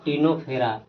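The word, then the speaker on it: Ctenophora: तो अब देखिए आपका अगला है टीनोफेरा। इसको लिखते हैं सी से शुरू में लेकिन सी साइलेंट होता है। टिनोफेरा बोलेंगे।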